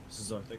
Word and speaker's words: Cesarthic: Now, Cesarthic. Am I pronouncing that right? Cesarthic. Yes, you are.